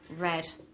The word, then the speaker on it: read: have the word re you have the verb read and then the past simple it's the same spelling but the different pronunciation so here we have read and here we have red like the color okay same with the